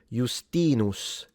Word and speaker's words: Justinus: Justinus. The E is long according to phonemic vowel length in classical Latin. Justinus rather than Justinus. Justinus. If you want to say it like a Roman.